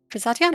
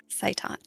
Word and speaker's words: Zaitan: Is that an archaic term for Zatian, or have we been saying it wrong this whole time? He says it's how it was said long ago. Zaitan.